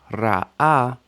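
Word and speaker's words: רָעָה: Ra'ah, exactly the same sound and standard pronunciation, evil. Aleph and ayin matter.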